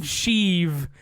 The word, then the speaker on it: Sheev: They say it like Sheev Palpatine.